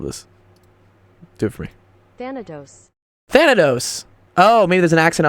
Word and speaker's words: Thanatos: to oh it's like Thanos with a Tina phantos no he said Thanatos I thought right yeah I can I can